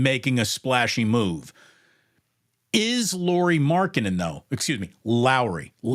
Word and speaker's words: Markkanen: Is Lauri Markkanen, though? Excuse me, Lauri. It's not Lauri. It's Lauri. Is it really? It is Lauri Markkanen.